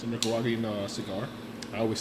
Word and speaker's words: Nicaragua: It's a Nicaraguan cigar.